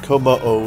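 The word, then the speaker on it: Kommo-o: And here's Como-O. I never know how to pronounce that. I keep wanting to say Como. And yeah, Como-O is pretty much how it is. It's like Susano-O from other series.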